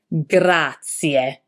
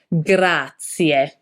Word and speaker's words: grazie: Grazie. Don't be tempted to say grazie. The Italian expression for thank you has a E at the end, which need to be pronounced like an Italian E.